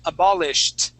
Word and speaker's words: abolished: with an okay uh good it ends with a T but we can't say it okay we go straight to a t sound okay it is abolished abolished good one more